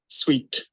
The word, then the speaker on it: suite: अगर आपने ये वर्ड यूज करना है, it's sweet. It is just the same pronunciation of the word SWEET. Same pronunciation.